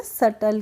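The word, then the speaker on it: subtle: है ऐसे ही है एस यू बी टी एल ई तो इसमें हम सटल नहीं पढ़ते हैं इसको हम पढ़ते हैं सटल क्या पढ़ते हैं सटल पढ़ते हैं नेक्स्ट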